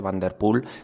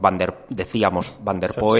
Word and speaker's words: Van der Poel: Uno, estamos diciendo Van der Poel porque Saúl nos ha corregido, se dice Van der Poel, nosotros decíamos Van der Poel. Saúl nos va a corregir todas las pronunciaciones que digamos correcto, después cuando hablemos por